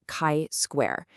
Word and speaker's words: chi square: And yes, it's pronounced chi square.